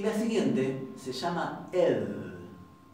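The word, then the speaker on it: ð: Y la siguiente se llama ed, y es más suave. Es así, es fricativa interdental, y la podemos estirar todo lo que queramos.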